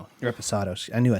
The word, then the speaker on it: Reposado: website or the the other one the the respondo Reposado I knew I said it wrong so again